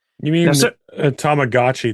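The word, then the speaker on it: Tamagotchi: You mean a tomagotchi, not a tommoachi, right? Tom tomagotchi.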